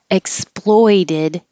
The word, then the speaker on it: exploited: had a sore throat exploited has the oi vowel oi and exploded has just the O explode exploded so exploited exploded and